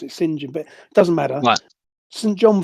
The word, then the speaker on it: St John: it was Al Well normally when it's written St John it's normally Spen they pronounce it singen but doesn't matter St John philby it's his